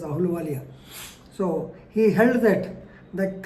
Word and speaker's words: Ahluwalia: Ahluwalia, Ahluwala, Ahluwalia, normally you pronounce it as Ahluwalia.